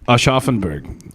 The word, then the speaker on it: Aschaffenburg: All right, how do you say that, Emma? What's that city? Where? Right there, the first word. Aschaffenburg? Aschaffenburg. All right.